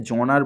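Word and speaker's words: genre: French word French ওয়ার্ডেতে এটাকে জনার বলা হয় সেটাকে ইংলিশেতে মানে আমেরিকান ইংলিশ আর ব্রিটানিয়ান ইংলিশ দুটো ভাষা অনুযায়ী দুভাবে উচ্চারণ করা হয় তোমার জনরা আর জনার ঠিক আছে তো কারোরই কোনটাই ভুল নয় পরে দিয়েছে দেখো এটাকে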